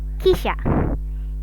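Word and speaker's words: 汽車: Ini ya contoh kisha, kisha. Harusnya begitu kan? Nah, tetapi ini ternyata dibacanya adalah kisha, kisha. I-nya melebur.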